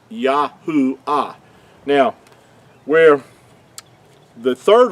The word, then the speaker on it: Yahuah: So I wanted to show show you that so you make sure that you understand that the creator's name could not be Yhovah. It's Yahoo.